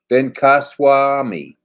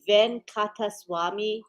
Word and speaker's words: Venkataswamy: Ben Kaswami. Let's see. Ben Katswami. Did I get that right? No. No. It's Venkataswamy Guram.